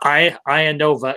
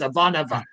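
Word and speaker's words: Ivanova: her last name incorrectly it's not I Ian NOA it's aanova she's Russian she's very very Russian I actually took that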